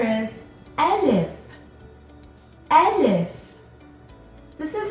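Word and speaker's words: ألف: give you a hint the sound of the letter can be found in the first part of the name so if it's called elif starts with the ah it makes the sound ah the letter n f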